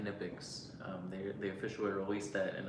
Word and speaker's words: Knipex: hearing me say that, you probably think that I don't know how to pronounce the company name correctly, but that is how they say it, Knipex.